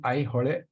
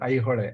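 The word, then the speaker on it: Aihole: So it is I hole Pattadakallu in Kannada. It is how pronounced. I request you to. Yeah. Thank you, sir. Thank you. You try this out. I hole. I hole.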